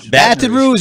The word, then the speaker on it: Baton Rouge: into that uh how do you say It Baton Rouge Baton Rouge it means red stick in Indian language okay